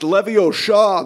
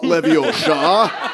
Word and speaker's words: Leviosa: The Color Purple is a bit much it's pronounced levio Shaw not Leviosa that's very good that was very good is